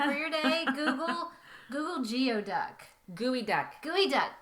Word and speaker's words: geoduck: Gooey duck. Gooey duck. But it's Gooey not duck. spelled like that. It's spelled like geoduck. It's GEODUCK, but it's actually gooey duck.